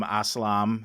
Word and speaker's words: Aslam: We've got a really killer guest, Kasim Aslam. Name rhymes, first of all, Tim. It just rhymes with awesome, because he is.